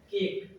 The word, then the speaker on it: cake: Ends with a silent e. Cake. Silent e. That means when we read out this word cake, there is no use of e.